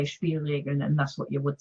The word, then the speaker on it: Spielregeln: How's the pronunciation? Spielregeln.